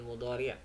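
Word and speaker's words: مضارع: Ini kalau ada dh dibacanya dha, fiil mudhari.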